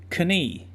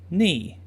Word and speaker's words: knee: no straight night eight just try to pronounce the word knee with both the K sound and the long e sound kane' and then again without the K sound knee notice how much longer